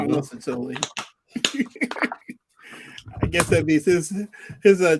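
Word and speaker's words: Mazzucchelli: It's Matsukeli. Oh, that's Massive Zucchini. I'm going to call him Massive Zucchini. Massive Zucchini. I'm going to call him Matsukeli.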